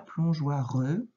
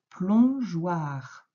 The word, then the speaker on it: plongeoir: Hein, ce n'est pas plongeoireux. Non, c'est juste plongeoir. Attention, je vais afficher le mot. Voilà, un plongeoir. Il fallait mettre le E pour aider à faire J.